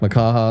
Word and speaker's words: Makaha: It was a Makaha. Uh-huh. Did I say it right? Yep. Makaha, and that was my first one.